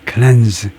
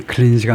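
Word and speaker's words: cleanse: 클랜즈 클랜즈라고 발음한다. 어 이것은 옛날 영어에서 나온 건데 메이클린. 예 클린하고 비슷한 클린에서 나온 건데 발음이 클린즈가 아니고 클랜즈다 그죠?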